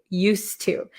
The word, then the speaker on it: used to: here okay used to used to it's just a difficult to say used used to it's very difficult so we just cancel out the D sound used to used to